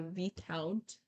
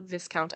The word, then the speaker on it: Viscount: read that the VIS the vount not Viscount I keep wanting to say Viscount I have learned that that's not how you pronounce it and here I am still trying to pronounce it that way anyway he said he